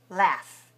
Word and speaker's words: laugh: it's after this word l-a-u-g-h the british say ah laugh and americans say a laugh do you like to